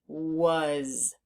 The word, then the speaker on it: was: The A is making the sound U. Uh as if it were a U, but it's not a U. It's an A. So we need to learn that part by heart. And the Z or the S is making a Z sound, which we haven't learned